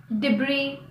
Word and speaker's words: debris: The letter S is silent before an L in the following words: island, aisle, debris.